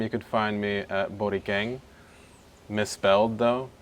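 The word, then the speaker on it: Borikhen: You could find me at Borang. Misspelled though. It's B O R I K H E N. The H is silent.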